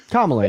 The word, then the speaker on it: Kamala: Being a service member, Kamala, what am I pronouncing it right? Kamala, you got it.